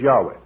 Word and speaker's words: Yahweh: we shall prove that the correct pronunciation has not been lost and he concludes that it is Yahweh but the Satan himself